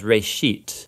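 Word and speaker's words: בראשית: Genesis Genesis comes from a Hebrew word it's pronounced for a sheet and it just means beginning now there's a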